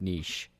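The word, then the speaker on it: Nietzsche: I tend to go it's pronounced Frederick Niche okay all right oh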